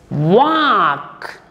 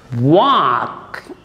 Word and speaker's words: walk: example walk please sit walk whenever you find a w you must have your lips around it w must be pronounced with rounded lips walk w-a-l-k we write l but we don't pronounce it t a l k